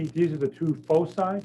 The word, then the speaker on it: foci: And C, these are the two foci. There are two focuses, but that's not how you say it. It's supposed to be foci.